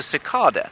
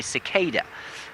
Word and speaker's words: cicada: is something called a sakada and many of you will know what a Sada is except I bet you don't say it like that you probably say cicada and I like cicas